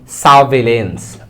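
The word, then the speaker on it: surveillance: নজরদারী করাটাকে বলা হয় সাভলেন্স আর এর উচ্চারণটা একটু সাইলেন্ট থাকে সাভলেন্স মানে হচ্ছে নজরদারী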